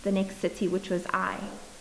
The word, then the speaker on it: Ai: next city which was i i think it's pronounced like it it's just a i all right so then